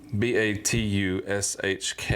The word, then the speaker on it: Batushka: H their name the band name is called batushka b a t u s h Ka a but it's pronounced batushka batushka uh this album came out